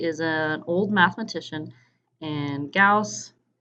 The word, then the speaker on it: Gauss: an old mathematician and Gauss rhymes with house just so you know how to pronounce that okay so we're gonna